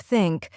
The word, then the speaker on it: think: native language for example the th sound in words like think and this many Learners pronounce it as s or Z like syn instead of think or ziz instead of